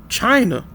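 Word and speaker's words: Qin: Um Canon China Santa right China. My bad. China etmology, right? China derives from the Sanskrit word Senna which likely used to describe the country after the Ken dynasty pronounced Chin, right?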